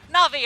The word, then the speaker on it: Na'Vi: maybe a chance for it but everyone from na'vi wants a piece of the pie na'vi I said it right there yeah you did